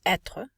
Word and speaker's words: être: pronunciation as well as conjugation so we would pronounce etre to be but we will say remember you